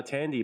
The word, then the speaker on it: Thandiwe: in there now yeah but it's still pronounced uh tandy but yeah this is